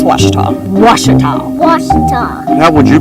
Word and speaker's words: Ouachita: for wasita Baptist University back in Texas everybody pronounces it Witchita but really it's was was was how would you pronounce it was it's was Baptist